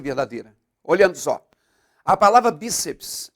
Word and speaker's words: bíceps: tem que ser verdadeira olhando só a palavra bíceps é acentuada porque é uma palavra paroxítona terminada